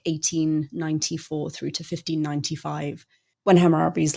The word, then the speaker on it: Hammurabi: the main man himself, Hammurabi, or Hammurabi. A lot of this stuff has multiple transliterations and reconstructed pronunciations, and I'm just going to go with the one that I'm used to, so it's Hammurabi.